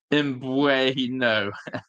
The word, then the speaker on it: Mbeumo: Pronounced Mbeumo, not a fish.